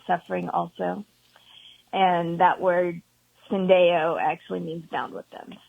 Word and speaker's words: Syndeo: God had laid on my heart to start Syndeo Ministries. You did pronounce that right.